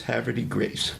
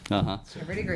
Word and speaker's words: Havre de Grace: had this discussion, and they said, it is Havre de Grace. Havre de Grace.